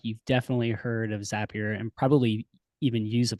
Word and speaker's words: Zapier: I was calling it Zapier, which I think is what a lot of folks call it. But you are right. It is Zapier.